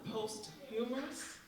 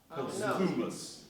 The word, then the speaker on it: posthumous: that service when I found out about the post humorous oh did I say that right y'all post humous post humus I haven't been saying that you